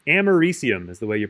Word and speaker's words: americium: francium polonium germanium americium and that's how you pronounce that element it should be looks like it maybe should be like americaium or something because like it's america but it's americium is the way you pronounce that which i